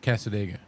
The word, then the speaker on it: Cassadaga: It makes you wonder how do they pronounce it down there? Well, the way she the way I do. Casadega.